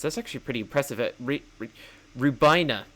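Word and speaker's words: Rhiwbina: That's actually pretty impressive at re rubina. That's how you pronounce it. The W throws me off.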